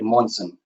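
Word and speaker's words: Månsson: The Swedish pronunciation of the Swedish last name there is actually Monson.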